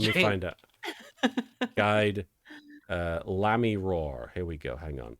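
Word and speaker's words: Lamiroir: Oh, it's literally meant to be like the French phrase "the mirror," I guess. Yeah, la mirror.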